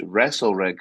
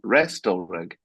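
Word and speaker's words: Restalrig: Notice that I didn't pronounce the T in Wrestle Rig because since I've I don't know, recorded the content, if you like, for the thing, I've since found out that it's Wrestle Rig, not Restal Rig.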